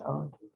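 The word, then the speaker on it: עוד: So this is an ayin, not a tzadi. Silent. So as an ayin, it's silent. It is silent, so it's Just ode.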